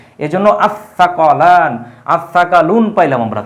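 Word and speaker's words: الثقلان: যোগ করা হয় তাহলে সেই আলিফ লামের আর উচ্চারণ হবে না এই এর উপরে একটা তাসদিদ চলে আসবে এজন্য সাকলান আসসাকালুন পাইলাম আমরা।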